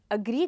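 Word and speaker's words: agree: यानी मैं आपके साथ अग्री करता हूँ। वेल, बहुत सारे स्टूडेंट्स इसी वर्ड को एग्री कहते हैं, जबकि इसकी करेक्ट प्रोनाउंसिएशन है अग्री, जो कि ये साउंड है।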